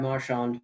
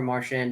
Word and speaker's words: Marchand: Quick aside, him being the legendary troll that he is, he switched up the pronunciation of his name depending on the year.